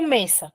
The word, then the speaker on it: mesa: Entonces, por ejemplo, tengo mesa. ¿Cuántas sílabas tiene mesa?